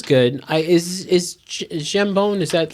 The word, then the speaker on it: jambon: So then they have a dish called hambone, which I don't know if that's how they say it. It's Jambon. Jambon.